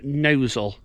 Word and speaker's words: Gnosall: get to the Village of nosul with a silent G and then from there